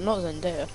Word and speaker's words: Zendaya: Oh, not Zendaya.